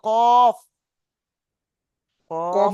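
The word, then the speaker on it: ق: কাফ আলিফ জবর কা। কাফ নয়, ওটা লাম ক। লাম ও ভাইজান শোনেন, ওটা কাফ নয়, ওটা কফ। কফ কফ। আলিফ জবর ক।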